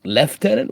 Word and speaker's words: Lieutenant: do prefer over British mostly pronunciation stuff but uh yeah Lieutenant one so stupid leftenant what just between you